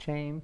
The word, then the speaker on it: Chaim: I just want to know why it's spelled C-H. How do you want to do Ch? There's no Ch. Only in Spanish, there's a J.